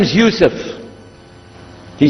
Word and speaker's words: Yusuf: as my name is Yousef did you say Yousef me say Yousef you're very good I wish you teach my wife she keeps mispronouncing it she calls me useless alhamdulillah now how many of you were in